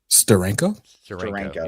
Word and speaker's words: Steranko: Steranko. How do you say that last name? Steranko.